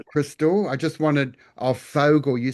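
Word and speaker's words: Vogel: But I've got here a um a Vogal crystal. I just wanted of Fogle. You said it's pronounced Fogle.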